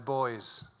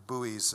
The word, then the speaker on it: buoys: up and down on their boys or buoys as you might pronounce it changing their orientation upriver